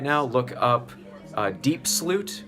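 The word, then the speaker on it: Diepsloot: right now look up deep Sloot which is spelled like Diep SLO ot and then there's kaya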